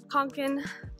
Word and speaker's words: Kånken: Today I'm going to be painting on my, I believe it's pronounced Fjällräven Kanken backpack, which means Arctic fox in Swedish as far as I know.